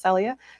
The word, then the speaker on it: Celia: mispronounced her name earlier but her name is pronounced celia celia rose gooding is playing the character of